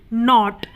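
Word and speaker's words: knot: है उसी तरीके से के एन ओ टी नोट अब यहां पर भी एन से पहले क्या ए रहा है के ए रहा है इसलिए हम इसे नॉट बोलते हैं इसमें के क्या होता है साइलेंट होता है है की वह नहीं बोला जाता क्योंकि वो एन से पहले ए रहा है या जैसे के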